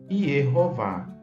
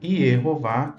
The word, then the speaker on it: Yehováh: ali o nome divino grafado plenamente corretamente 114 vezes como Y hová sim Y hová está grafado ali nesse códice tão antigo do 9 século depois de Cristo em inglês e jehová enfim cada língua tem sua pronúncia nós respeitamos sabemos que